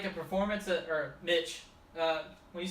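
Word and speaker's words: MICH: Alright, so this thing is called a Mitch helmet, which is spelled M-I-C-H. Which is, yeah, why I say Mitch and not Mike, I guess.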